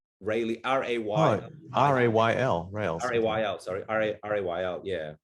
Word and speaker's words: rayl: apologize i think it's i think it's from uh rayleigh what they call rayleigh scattering rayleigh r-a-y r-a-y-l rails sorry r-a-y-l yeah right